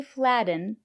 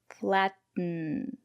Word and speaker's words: flatten: written flatten C Buton so we don't say flatten we say flaten she's making bread she